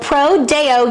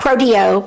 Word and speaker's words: Pro Deo: with elaine metcalf of pro deo youth center not proteo prodeo right that's right we want to say it right we'll take it either